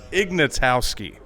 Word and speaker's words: Ignatowski: your last name Jeff is pretty hard to pronounce Ignatowski yeah um tell us a little bit about